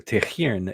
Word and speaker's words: Tighearn: It's spelled in a way that will confuse the hell out of you. Tehir is the way you pronounce it, but you can find